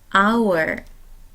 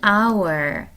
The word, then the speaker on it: hour: our, FBI. 이런 경우에 철자에 주의하지 마시고 발음에 주의하세요. our 같은 경우는 모음 아로 시작되는 단어입니다. FBI 같은 경우는 모음 에 발음으로 시작하는 단어예요. 그래서 관사를 쓸 때 on hour, 1시간, on FBI agent,